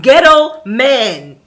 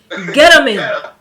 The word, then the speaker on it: Gettleman: His last name is Ghetto Man. He's a ghetto man. Gettleman. That's his name. Ghetto. It's not ghetto, it's ghetto. That makes it even worse. Ghetto? Nigga, your name rhymes with kettle.